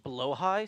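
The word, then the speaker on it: Blåhaj: It's pronounced blowh high surprisingly. Huh. But blah is funnier.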